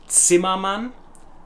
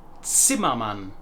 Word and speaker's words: Zimmermann: name was Robert Zimmermann, or with the German pronunciation, Robert Zimmermann. Zimmermann.